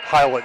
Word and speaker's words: Hiland: Hiland, yeah, Hiland.